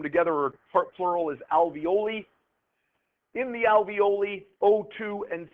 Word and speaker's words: alveoli: thing there the alvioli I call it alvioli rhymes with ravioli that's the only way